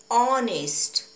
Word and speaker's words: honest: example and our and honest in this example H is silent the pronunciation of these words are honest our so we used